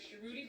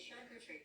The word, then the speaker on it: charcuterie: The correct French pronunciation of charcuterie is charcuterie.